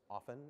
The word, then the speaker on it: often: It's often. It rhymes with soften.